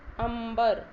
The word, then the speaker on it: अंबर: तरह कुछ होता है जैसे अंबर यहां पर मां की तरह उच्चारण हो रहा है ठीक है जंगल मैं